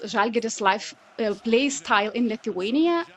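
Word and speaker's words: Žalgiris: But did you expect it sparkling start like Zalgiris have? And did I pronounce it well?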